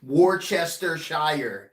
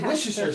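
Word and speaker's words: Worcestershire: where is it yeah if you want me to actually pronounce it it would be the same way you would pronounce it if you spell it exactly Worchester Shire yeah Worchester but that's not how you say say Wisher sauce wish you said yes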